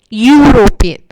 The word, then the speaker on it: European: european this word european the first letter is e which is a vowel letter but when we pronounce it european it sounds u and ear is considered